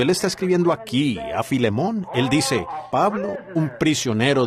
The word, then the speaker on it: Filemón: Así que Filemón dijo alguien allá atrás, lo cual creo que es la pronunciación correcta.